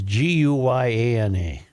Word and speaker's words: Guyana: No, this is Guyana. This is Different. This is a different Anna.